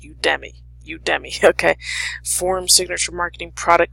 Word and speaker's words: Udemy: Udemy, I think it's pronounced Udemy.